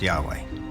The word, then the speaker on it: Yahweh: knew God by his intimate personal name conventionally pronounced Yahweh passages with the name Yahweh which in German